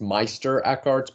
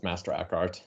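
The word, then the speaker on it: Meister Eckhart: So, masterart and in German it's Meister Aart because that's like German word for master. Uh but in English it's masterart. Uh some people still call him Meister.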